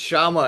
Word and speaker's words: Chama: Everybody just Shama.